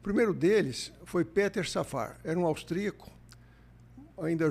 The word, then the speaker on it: Peter: Mas o Peter Safar, um anestesista, é Peter porque ele é austrica. A pronúncia não é não é inglesa, é alemã.